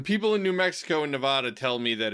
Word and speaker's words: Nevada: It says, don't call it Nevada or you'll be in trouble unless one legislator. Apparently, the only acceptable pronunciation of the state is Nevada.